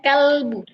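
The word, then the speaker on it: كلب: Bahkan ada kalimat contohnya kalimat em qolbu qolbu dan kalbu qolb. Nah, kalau qolbu itu bacanya pakai qof ya. Qolbu itu artinya hati. Kalau kalbu pakai kaf itu kalbu itu artinya maaf, artinya anjing.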